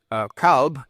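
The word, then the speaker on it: כלב: Another possible Hebrew etymology is Hebrew qalav, dog, originally pronounced kalb, just as it is in Arabic.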